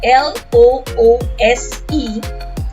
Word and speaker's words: loose: sound loose as in l o o s e is something that's not tightly fastened it's an adjective and is pronounced as loose with a s sound let's read a few